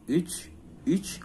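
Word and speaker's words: üç: 1 itu bir, 2 itu iki, 3 itu uch, u-nya pakai titik 2 bacanya uch, c-nya pakai pancing, bukan c biasa.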